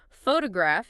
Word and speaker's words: photograph: Word stress is about which syllable in a multisyllable word receives the strongest emphasis, like photograph is stressed on the first syllable, but photographer is stressed on the second.